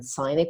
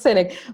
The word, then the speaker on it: Sinek: little bit more about Simon how do you pronounce him some people say simon Sinek some people says Simon sign it what would you say as his natives in